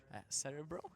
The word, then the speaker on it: Cerebro: reference to it, so it's called, it's spelled like that because they're trying to use Russian characters in their name.